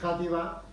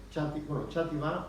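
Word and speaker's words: Xàtiva: La X se pronuncia en griego J, igual que en español. De eso nos ha venido una herencia griega a los españoles. La X, por eso decimos Játiva, no Chátiva, o Chimene decimos Jiménez,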